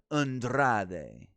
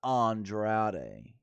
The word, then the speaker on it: Andrade: saying that she can't she's not pronouncing andr 's name correct cuz it's Andrade not Andrade Vega McIntyre had one